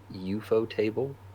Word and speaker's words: Ufotable: I pronounce it UFO Table or UFO Table, but other people say Ufotable, which I think is Hmm.